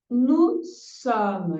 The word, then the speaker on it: nous sommes: Nous sommes. Então, viu? Não vou pronunciar esse S, tá? Não é nous sommes. Jamais, tá? Nous sommes, ok?